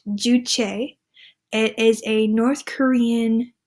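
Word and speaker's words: Juche: people the third bullet point I have is pronounced duche it is a North Korean term that translates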